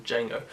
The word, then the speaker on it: Django: the 1966 spaghetti western Django through the infamous "the D is silent" line.